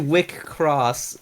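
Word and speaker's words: WIXOSS: like a hard game called vixels it's called wickross if you pronounce it like i just did sounds like masturbation in in german yes it's a wick cross meaning it it's it's pronounced like a cur and sometimes it's also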